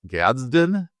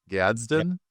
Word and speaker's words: Gadsden: Uh, Oronda Gads Gadden, is that how you pronounce that? Gadsden, do I have to say it like that?